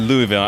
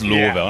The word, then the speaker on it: Louisville: yeah so like the first time I said Louisville it sounds like y'all dude it's Louisville I'm like oh snap my bad my brother's name is Lewis too so it's like and it's spelled the same as the beginning of Louisville but yeah it's it's different you're supposed to say Louisville but that's awesome um